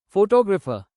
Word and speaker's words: photographer: Photographer stress moves to second syllable.